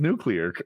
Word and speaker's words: nuclear: I was just struggling with nuclear. Two syllables. New. It's pronounced nuclear.